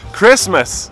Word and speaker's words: Christmas: Mas se Christ pronuncia desse jeito, por que que em Christmas eu pronuncio com som de Christmas, não Christmas? Porque quando você junta duas palavras e cria uma outra, geralmente o som da vogal vai mudar.